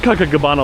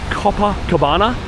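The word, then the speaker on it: Copacabana: I said Cocoa Cabana last night and I was going, that's a disgraceful pronunciation on this beach, but Copper Cabana, I'm going to say it slowly so I can say it.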